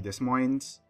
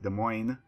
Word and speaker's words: Des Moines: get in the game this would be the Des Moines actually that's the wrong pronunciation it's pronounced Des Moines I think the people thought the Cleveland at